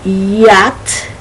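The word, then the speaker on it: yacht: can be wrong okay so beyond let's see yat so that is y-a-c-h-t okay yak yankee now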